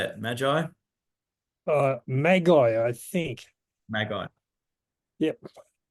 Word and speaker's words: Magi: Maggie, how do you say it? Magi?